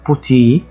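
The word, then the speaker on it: petit: يطلع بشكل مظبوط كمان زي كلمه بوتي بوتي حرف التا هنا لا ينطق فبقى اخري هنا حرف اي اللي هو بالانجلش اي بوتي بوتي كمان كلمه كوغ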